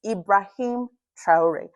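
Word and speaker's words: Ibrahim Traoré: lady who said say his name BBC it's ibraim tror not gun wearing leader and name whose concern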